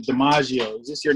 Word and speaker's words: Demagio: like, "Hey, are you Demagio?" He pronounced it wrong, so I was like, "Nah, no, Demagio."